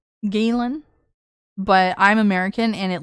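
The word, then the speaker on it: Ghislaine: She kind of sounds like Gizlane Maxwell, which by the way, her name is French and is pronounced uh Galen. Galen, but I'm American and it looks like it says Gizlane.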